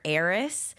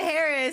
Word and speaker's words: Heire: so many jokes because my brand is Water Aerys, but it's spelled H E I R E. And people are like, "Oh, the Harris." And I'm just known for it now.